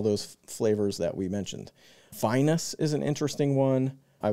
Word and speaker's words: vinous: I think I said Venus. Apparently, that is incorrect.